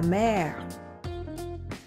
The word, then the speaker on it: mer: La mer. If an R comes at the end of a verb, you would not pronounce it. But in the case of nouns, you would.